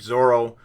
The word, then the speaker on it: Zoro: not realize that uh in english the translation is not pronounced with an l that it's it's heavier on the r so it is more like zorro which i can certainly